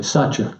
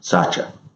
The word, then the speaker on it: Satya: Okay, Satya. Satya.